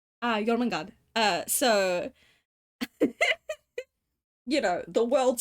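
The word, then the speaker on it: Jörmungandr: So I named him after what they're based on, which is Jormungandr. Jormungandr.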